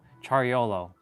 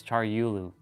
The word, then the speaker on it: Charulu: Yeah, I was saying to Swatt's dad's last name, it's almost like Charolo. If you take out the the U's and put the O's, it's like yolo. Charolo, but it's Charulu.